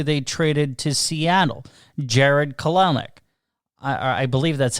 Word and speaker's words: Kelenic: the guy who they traded to Seattle, Jared Kelenic.